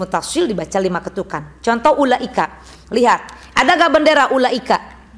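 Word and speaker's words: أولئك: Kalau panjang nafas lima, kalau pendek nafas empat. Tapi rata-rata memang lima. Ya. Contoh ulaika gitu ya bacanya. Ulaika humul muflihun. Tuh namanya mad wajib muttasil.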